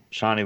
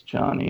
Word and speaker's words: Chani: Shawnee would be my guess. I think it's Chani, and Chani's how they had pronounced it in the Yeah. Lynch film too.